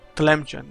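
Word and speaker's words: Tlemcen: But they have the Telemcen ally who has... Let's see... Telemcen... Really? No. Did I pronounce it right? Come on. Telemcen, there you go.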